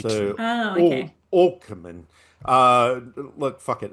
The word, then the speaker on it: Åkerman: Malin Åkerman, because Mal in Mal Swedish, well, in Swedish, an A with an O on the top is pronounced O. H. So, Oh, okay. Åkerman.